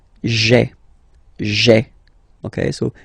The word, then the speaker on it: j'ai: Okay, so just to avoid pronouncing this je, because we think that in French it doesn't sound that beautiful, so we tend to take this away, okay, so that you get this sound j'ai, j'ai.